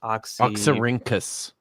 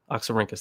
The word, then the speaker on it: Oxyrhynchus: So the earliest manuscript that we have, I forget the exact one, but it's one of the how do you pronounce it? Oxyrhynchus. Oxyrhynchus, thank you.